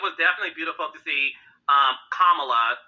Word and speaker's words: Kamala: No, it was definitely beautiful to see Kamala. That's how you pronounce her name, Heavenly.